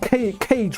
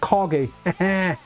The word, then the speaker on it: Kage: But this guy, I always thought he was called Cage, right? But it's actually pronounced Kage.